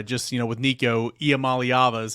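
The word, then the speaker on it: Iamaleava: yards and uh just you know with Nico IAM malava is how you say his name of course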